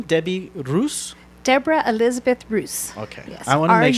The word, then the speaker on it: Ruz: knew how to pronounce Bruce or yeah everybody puts an eye in my name I can figure it out yeah it's are you and now just so